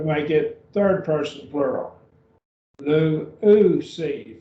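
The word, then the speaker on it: λύουσι: Lu-u-si, three syllables, lu-u-si, lu-u-si.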